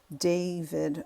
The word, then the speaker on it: D4vd: The car was owned by David. He's a singer. It's spelled D4VD.